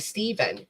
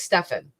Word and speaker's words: Stephan: do people keep calling him Stefan instead of Stephen and that's because um the way it is spelled and the way the the friend who knew him pronounced it was Stefan hey B so all right so his friends